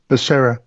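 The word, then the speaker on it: Becerra: you say his name you said is Basera Basera secretary Basera so his uh testimony this was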